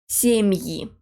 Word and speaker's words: семьи: But when it goes after a soft sign or a hard sign, it's pronounced as yi. Семьи. Игра, поиграть, but семьи.